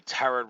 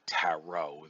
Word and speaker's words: tarot: um now uh the turret reading that you are i i should say taro the second t in the the word is silent uh to be uh specific um tarot reading uh